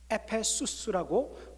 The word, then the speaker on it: 에베소: 에베소에 와서 말씀을 전했다 했습니다. 이 에베소, 에페수스라고 그렇게 발음을 하는데, 여러분들 지금 오늘날의 터키 땅이 나옵니다.